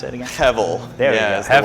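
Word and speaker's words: הֶבֶל: The idea of, how do you pronounce it again? Hevel.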